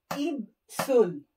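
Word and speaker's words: 입술: Lips, ibsul.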